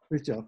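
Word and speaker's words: Fritjof: And did I pronounce his name right? Fritzhof, yeah.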